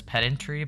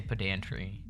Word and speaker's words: pedantry: Um he says pedentry but we say pedantry spoken like a true pant.